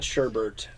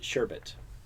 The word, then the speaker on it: sherbet: everybody mispronounces it yeah it's not sherbert its sherbet there's no oh [